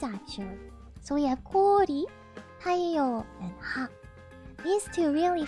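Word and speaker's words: 太陽: Taiyo has a long O. It doesn't have taiyo. It's taiyo.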